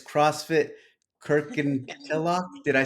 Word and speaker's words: Kirkintilloch: Kirkintilloch.